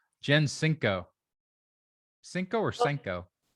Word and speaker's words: Senko: welcome to the show i always say jen cinco cinco or senko it's senko but if the family uh pronounces it senko those are the ones who